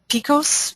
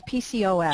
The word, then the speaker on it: PCOS: indicator that they have this um Picos is that how you pronounce the acronym no it's PCOS PCOS um and then you